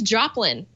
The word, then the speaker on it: Joplin: out for thought is Joplin and yes it sounds just like Janis Joplin and it's spelled like that too so Joplin is a